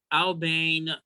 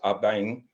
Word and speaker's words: Aban: And so that's actually pronounced Abang, and it's from the Akan Adinkra symbols of many of us